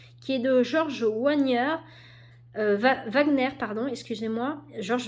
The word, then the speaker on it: Wagner: est de George Wagner Wagner pardon excusez-moi George Wagner je suis mal prononcée en plus c'est allemand normalement comme nous donc George Wagner